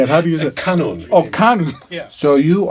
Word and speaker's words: kanun: What is a kunan? That sounds like a fruit you get at the grocery store. How do you say it? Wait a minute. How do you say it? Kanun.